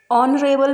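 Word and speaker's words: honourable: जैसे honest, honest H से start हुआ है लेकिन यहाँ पर एच साइलेंट है। ऑनरेबल में भी एच साइलेंट है और आवर में भी एच साइलेंट है।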